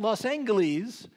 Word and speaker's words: Los Angeles: At Los Angeles, and I know this because in the diary entry it actually says hard G. At Los Angeles, we passed into the domain of Marion Davies and all were charmed by her.